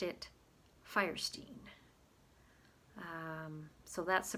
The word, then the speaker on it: Fierstein: says his father whose name it was originally pronounced it firestein um so that's the pronunciation that harvey goes by but he says his brother planted his own flag of independence calling himself fierstein and their mother for reasons known only to